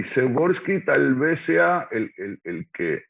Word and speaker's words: Przeworski: El nombre se escribe raro, Adam, pero Przeworski, que empieza con PRZ, Przeworski, polaco que estudió en